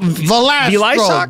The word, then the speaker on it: Valastro: He doesn't know how to pronounce my name. Valastro.